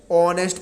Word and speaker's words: honest: क्या होता है बच्चों, हमारा एच जो होता है वो साइलेंट हो जाता है। ठीक है ना, तो हम लोग इसको पढ़ते क्या है, ऑनेस्ट, ऑनेस्ट पढ़ते हैं। ठीक है ना, ओ से शुरू होता है।